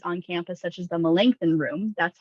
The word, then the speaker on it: Melanchthon: small meeting spaces on campus, such as the Melanchthon room. That's how you say that word, Melanchthon. I could not pronounce it correctly pretty much the entire time